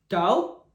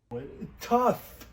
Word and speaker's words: tough: tow, No, tough.